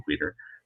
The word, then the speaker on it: Queter: Look up Tom Queter, which is spelled like quit with an ER, but there's no quit in Queter.